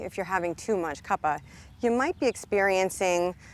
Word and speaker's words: Kapha: practice with me so what is Kaa or as it's sometimes pronounced kafa well it just corresponds